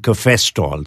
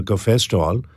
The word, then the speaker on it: cafestol: How do you spell that? K-A-H-W-E-O-L, caveol. And then there's something called cafestol, C-A-F-E-S-T-O-L.